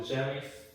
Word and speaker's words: Jamie: Welcome to Jamie's Gift Shop. 자, welcome 하면 이제 환영합니다 그런 얘기죠. Jamie. 이것도 이제 얘네들이 발음할 때 또박또박 발음하면 재미로 들리는데 재미로 발음하는데 이게 이제 빨리 발음하자면 지미처럼 들려요. 지미. 그러니까 그런 거 좀 유념해 두시기 바랍니다.